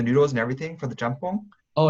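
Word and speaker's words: 짬뽕: I've been cooking like Korean fried chicken, jampong. I'm not sure if that's how you say it. Yeah, jjampong.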